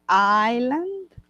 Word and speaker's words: island: beautiful I love Rosario Island sorry together Rosario Island you don't pronounce the S island so your Islands you